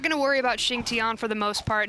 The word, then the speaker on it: Xing Tian: Xing Tian. Tian, is that how it's said? I believe so. That's correct pronunciation. It's, I don't know, because I've been saying Jing 10 the whole time.